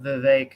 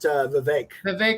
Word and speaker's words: Vivek: No, we're talking about Vivek Ramaswamy. Oh, yeah. Okay. Rhymes with cake.